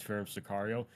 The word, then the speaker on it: Pherem Sicario: why I always say, "Hi, my name is Pherem Sicario," is because I always get messages, "Hey man, how do you say your name?